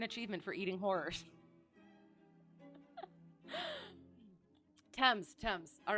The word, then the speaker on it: Thames: name of the River Thames okay sounds good thank you I shall try to remember I used to say Thames and then I did I heard that it was just the tea and then yes River